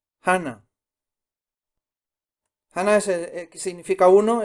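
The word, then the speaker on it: 하나: Hana. Hana.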